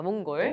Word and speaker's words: 몽골: 하나가 빠진 느낌이 들어서 꼭 몽골에 리을 잊지 마시고 붙여 주시는게 참 좋아요. 꼭 몽골을 몽골이라고 100% 모든 발음을 넣어서 불러 주시면 너무너무 감사할 것 같습니다. 네. 몽골. 저희가 기억하겠습니다. 몽골.